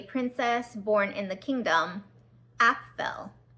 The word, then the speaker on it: Apfel: It starts off with a prologue explaining about a princess born in the kingdom, Apfel. And it kind of sounds like the word apple a little bit, Apfel apple.